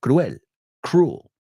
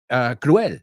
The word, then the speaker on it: cruel: Unkind is cruel, right? Acuérdate, en inglés es otra palabra que escribimos igual que no pronunciamos. Vimos muchas hoy. Cruel, la E no se pronuncia en inglés. Cruel.